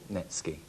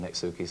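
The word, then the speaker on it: netsuke: all right seven pounds erica knowles okay tell us all well it's a fabulous little netsky um date wise date wise it's a good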